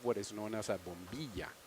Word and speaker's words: bombilla: is known as a bombilla. These guys say bombilla because Bombilla. they don't know how to pronounce a double L sound in Argentina. Come on, Colombian, you can say it.